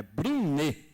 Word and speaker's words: Brunet: nordestina que muda justamente o vocábulo mas a pronúncia correta é Brine foi bem segundo o escritor e pesquisador Rosado